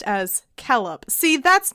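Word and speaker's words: Celeb: like sit like consonants c has always had the value of k even before e and i keleb c c-e-l-e-b silver should be pronounced as kellop see that's not fun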